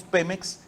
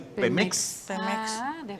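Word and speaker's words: Pémex: de tal manera que si pronunciamos Pemex debe llevar acento gráfico en la primera e si no lo ponemos tendríamos que decir Pemex Pemex y aquí la regla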